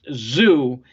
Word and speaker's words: Tszyu: on the zoo and his name is spelled t-s-z-y-u pronounced zoo and you gotta remember